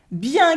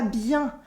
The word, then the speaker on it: bien: you probably noticed that here the n is silent we don't say it at the end we say and anyway bien can be used as